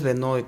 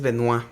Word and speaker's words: Benoit: que va a decir, "No es Benoid, es Benois." Bueno, yo que estuve de becario con el Dr. Benoid, él mismo decía que no le gustaba su lado canadiense. Entonces, él mismo cuando pronunciaba decía, "Por favor, francés." Ajá. Me decía, "De origen francés." Exacto. Frances en Canadá. Y dice, "Por favor, dime Benoit."